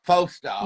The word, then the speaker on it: Falstaff: I never know how to pronounce it. It's either the Flagstaff or the Falstaff. Falstaff.